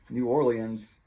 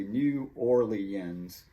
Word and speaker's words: New Orleans: up close to but this word gets pronounced so many different ways i think if you look in the dictionary it will say new orleans new orleans and i usually say it like that a lot of people